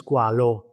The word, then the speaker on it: Squale: shark CH isal the the pronunciation is French because the word is French is because in Italian is squalo with o squal is